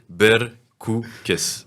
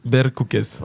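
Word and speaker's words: Berkoukes: d'ici la fin d'interview le but que tu sache bien le prononcer berkoues berkoues voilà bercoues il il y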